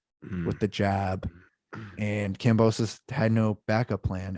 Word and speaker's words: Kambosos: Yeah, George Kambosos.